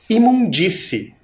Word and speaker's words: imundície: Imundície. Vamos separar essa palavra? Ela tem 1, 2, 3 e 4 sílabas.